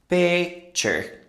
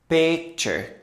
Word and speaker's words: picture: In American English, the ending often sounds like chur.